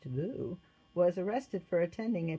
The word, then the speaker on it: Liu: Vietnam a woman named Liu pronounced GU was arrested for attending